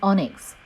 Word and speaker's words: onyx: technical term for the nail is onyx pronounced Oh N IKS it is used frequently